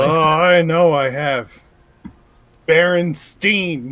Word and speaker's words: Berenstain: Berenstein, not Berenstain. Berenstein. Pronounce it Steen.